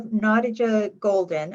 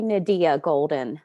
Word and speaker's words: Nadia Golden: gosh it's no problem it's actually nadia golden um okay yes it's